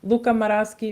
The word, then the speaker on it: Luca Maraschi: I only have to say it once so Luca maraski Mateo Colina okay all right cool all right